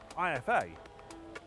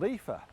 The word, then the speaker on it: IFA: But the only problem is, I've been saying IFA all wrong. It's not called IFA, it's called IFA.